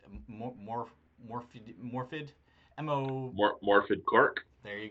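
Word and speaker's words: Morfydd: It's just awesome, and I can't pronounce her name. It's Morphid, Mo.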